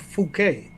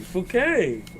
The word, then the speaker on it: Phuket: to pronounce the club fukquet. It's not French. Yes. Okay. I'm not That's what I'm asking, dog. Fuket. Fukquet. Fuket, man.